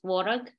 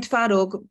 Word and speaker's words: twaróg: I think it's tvorog. I'm saying twaróg because in Polish it's twaróg.